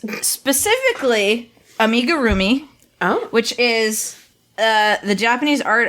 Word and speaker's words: amigurumi: So it's specifically amigurumi, which is the Japanese art of crocheting little stuffed animals.